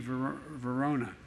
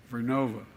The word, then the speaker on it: Vernova: going to go into turbines made by GE Verona excuse me I mispronounced it vernova in Florida New York pattern energy will use